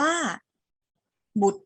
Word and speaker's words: บุตร: มา คำ ที่ 5 คำ นี้ ปิด ตัว ร เรือ ไป ไม่ ต้อง ออก เสียง รอ เรือ เรา จะ อ่าน คำ นี้ ว่า บุตร ธิดา บุตร ธิดา บุตร แปล